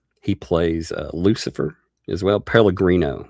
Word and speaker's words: Pellegrino: Pellegrino. That's right. I said Pellegrini.